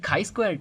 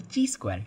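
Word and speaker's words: chi-square: the next thing is the kaiquare test or also called as the tsquare test. Uh you know you can pronounce it both ways.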